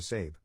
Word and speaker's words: Sab: To cut right to the chase, I legally changed my name to Sab, pronounced like Abe, but with an S.